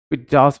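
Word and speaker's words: pizza: पिटजास हो जाएगा। इसको पिटजा बोला जाता है। पिटजा पिटजा जो इसका सही प्रोनाउंसिएशन है ना वो पिज़्ज़ा का पिटजा होता है।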